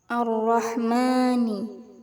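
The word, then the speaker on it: الرحمن: Cara bacanya huruf lam dimasukkan ke huruf ro.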